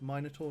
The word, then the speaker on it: Minotaur: all vibes and yes I pronounce it the European Way folks mine at all not Minotaur hmm Mikkel